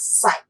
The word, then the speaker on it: psi: by the greek symbol psi this is a greek symbol p is silent here so we say it as psi psi is the greek